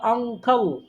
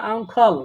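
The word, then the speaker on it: uncle: চাচা, মামা, ফুফা, খালু সব কিছু মিলে হলো আঙ্কল। কি উচ্চারণ এটা? আঙ্কল। বলেন কি? আঙ্কল। আঙ্কল। আঙ্কেল, আঙ্কল, আঙ্কল, খেল না, খল খল। আঙ্কল, আঙ্কল, আঙ্কেল তো নাই না, আঙ্কেল না, আঙ্কল, আঙ্কল।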